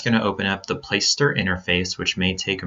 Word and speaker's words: Placester: And it is pronounced Placester, like Placester. It's not Place Setter or Playcaster or any of those other weird pronunciations that we hear. It's Placester.